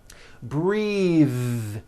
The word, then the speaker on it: breathe: Breathe. Same thing. Breath is a noun. Take a breath unvoiced. But when you change it into a verb, the vowel changes and it becomes breathe. I am breathing with a voiced th.